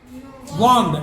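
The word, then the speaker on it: walked: Trees, हाँ, people often वॉक्ड walk वॉक्ड एल को नहीं पढ़ना हाँ on it to a body place.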